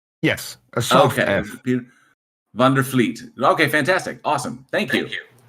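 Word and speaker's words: Vliet: and it's from Fleet Fleet so that that V is like an F yes okay Vander Fleet okay fantastic awesome thank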